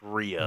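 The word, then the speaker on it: Rhea: R rip Le Ria no it's R it's Ria it's R rip Mullins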